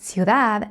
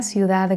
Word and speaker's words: ciudad: In the word ciudad, there are two closed vowels. I, u, you.